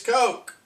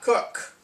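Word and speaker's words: Koch: So it's kind of irritating that not only somebody who isn't German, me, telling them it's Coke, it's not Cook.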